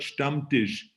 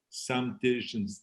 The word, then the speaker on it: Stammtisch: a great introduction and you're absolutely right you pronounce the word stump dish the right way which a lot of people have a problem with that they say some diligence but it is a dumb dish that's exactly